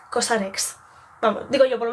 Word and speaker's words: COSRX: que no sabe pronunciarlo es Cos RX vale No Cos vale Admito Admito que yo antes era una de las que decía Cos V pues no es cosar ex vamos digo yo por